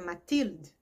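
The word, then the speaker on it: Mathilde: E esse Lamol tem uma filha chamada Matild, considerando a língua francesa e a sua pronúncia.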